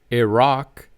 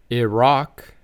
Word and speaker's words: Iraq: Then we have Iraq, which can be pronounced in multiple ways. The first few ways might be familiar to you. Iraq, Iraq, or Iraq, Iraq.